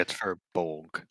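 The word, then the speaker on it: Firbolg: Furbolg? Is that how you say it? I think Furbolg. Furbolg. Yeah, it's Furbolg.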